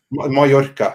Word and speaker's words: Mallorca: Yeah, that's Mallorca? Is that how you say it? Mallorca, yeah.